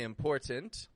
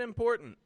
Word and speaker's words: important: from the word internet another word important that has two T's I didn't pronounce either of them I didn't say important I said important if you are interested